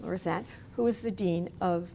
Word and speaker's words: Lorenzet: the Law School, and Dean Steve Lorenzet. Am I pronouncing that correctly? That's right. Yep. Lorenzet, who is the Dean of the School of Health Sciences.